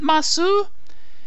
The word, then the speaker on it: ます: moss evan isn't it masu it is masu but when we're talking about sentence ending which are usually the moss they uh we don't pronounce that at the end it's just mas there's also the copula